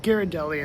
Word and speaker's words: Ghirardelli: All right, so I went back in and asked how you pronounce Ghirardelli, and they said that you actually pronounce it Ghirardelli, and then they pointed me to this sign.